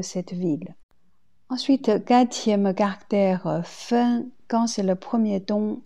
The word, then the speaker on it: 分: Deuxième prononciation, c'est quatrième ton, fen.